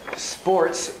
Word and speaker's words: sports: extra vowels so that sports sports is one syllable but in korean it becomes what three syllables but if you're speaking english you want to say it as one syllable we have these consonant